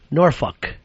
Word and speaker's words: Norfolk: Whenever Briby gets a road trip, she always takes off there in Norolk or as the locals call it, Norfolk.